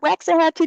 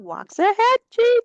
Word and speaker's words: Waxahachie: Center, 505 Marvin Street in Waxahachie, not Waxahachie, Dr. Little, Waxahachie, Texas.